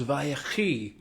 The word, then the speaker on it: Vayechi: Parsha number 12 of our series, week number 12 of our sessions is Vayechi. Vayechi, as it may be called in some pronunciations. Vayechi.